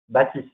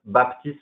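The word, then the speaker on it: Baptiste: are you there yeah in France we say Baptist not Baptist like thousand Baptist we don't say the P okay it's musical when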